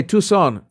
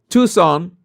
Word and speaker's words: Tucson: But again, the Okay, Tucson. Okay. The sea is silent.